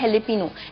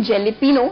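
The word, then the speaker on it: jalapeño: इसका नाम होता है हेल्पनो इसको हम लिखते हैं जेले पिनो लेकिन इसको हम प्रोनाउंस प्रोनाउंस हमेशा कहते हैं हेले पिनो के नाम से यही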